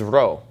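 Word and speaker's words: Ρω: Whenever you see this, when you're reading Greek, you need to get used to pronouncing this as an R sound and not as a P sound.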